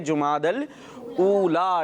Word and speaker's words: जुमादल ऊला: इसको दूसरे तरीके से भी अदा कर रहे होते हैं। असल इसका प्रोनाउंसिएशन ऐसे ही है, जुमादल ऊला, ठीक है।